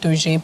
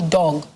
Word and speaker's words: Doge: corrected me and said it is actually dog what dog but you know it's this dog with an e so it is spelled d-o-g-e but it's dog with an e not doge so i beg your